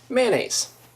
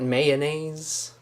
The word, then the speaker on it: mayonnaise: that coupon c um mayonnaise two syllables for me not mayonnaise mayonnaise I might shorten